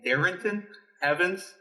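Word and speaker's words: Darrynton Evans: philip lindsay joe mixon swift zack moss and darrenton evans that's how you say it so so you're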